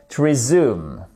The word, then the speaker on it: résumé: mais la version officielle du American English c'est resume sauf que ici j'ai mis plutôt une version